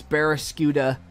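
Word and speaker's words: Barraskewda: I need you to not get one-shotted by this Berascuda. Oh, I actually pronounced it right.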